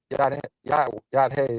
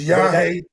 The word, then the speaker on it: Yahweh: They said But if you say Yad-Hey, Yad-Hey, You then said it wrong, Jay. It's Yahweh.